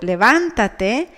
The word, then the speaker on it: levántate: The word levántate has the intensity in a syllable different from the penultimate one, and that's why it has a tilde.